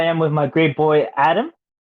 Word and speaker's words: Adem: five here I am with my great Boy Adam right that's how you pronounce it yep that's right so um first